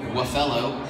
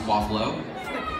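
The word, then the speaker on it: Wafellow: Waffello is not pronounced Waffalo. Don't do that, I will get mad at you.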